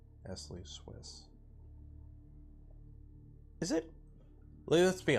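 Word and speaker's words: Nestlé: at murf Smarties are Nestle yes Smarties or Nestle is British you don't pronounce the T don't spell the T Esley Swiss is it let's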